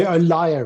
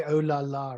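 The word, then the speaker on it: Olalla: So it's the Olaya rat, thank you. Yeah, because I've been calling it the Olala rat. I think it's a much better name personally. Now I know how to pronounce it.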